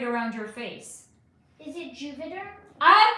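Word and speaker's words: Juvéderm: So the first one, it's not Moviderm, it rhymes with Moviderm, but the first letter is J. Juvederm.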